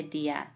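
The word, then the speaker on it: día: far as vowels go if the combination of a strong vowel and a weak vowel the weak vowel carries an accent the dip thong is divided into two syllables so if basically let's just simplify this if we didn't have an accent mark this would be right one syllable since the this is a dip thong we know we say Dia and of these two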